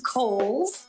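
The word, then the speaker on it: Cowles: much it is pronounced kohl's uh george cole was a an early land owner developer out in the east county area so holes mountain like the department store and back by popular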